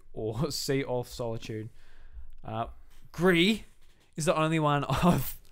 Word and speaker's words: Gris: It's not Gris. It is Gris. It is not. Pinot Gris. Motherfucker, it's Gris. It's French. Gris.